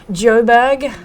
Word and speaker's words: Joburg: Shot in Joburg, as the locals say. Joburg. Johannesburg. For Johannesburg.